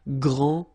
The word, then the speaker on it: grand: You don't pronounce the final D, you don't, the D here, and you don't pronounce the final S. Okay, so grand, and then same thing here, grand.